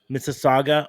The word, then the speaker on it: Mississauga: do it okay born in Miss Mrs sagua Mississauga Ontario I know I butchered that but um Mississauga Mississauga Mississauga Ontario